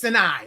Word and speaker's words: Sinai: It's Sinai. You don't pronounce the second A.